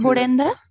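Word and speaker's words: ブレンダ: Hay que siempre rellenar las sílabas en japonés, o sea, las sílabas que quedan sueltas en el sentido de, en el caso de Brenda, ¿no? Tenemos Bren, Bren. Ahí tenemos muchos sonidos. Para ellos va a ser un poco complicado pronunciar, por lo cual es necesario, ¿no? Rellenar las sílabas de que de repente quedan solo como una consonante, ¿no?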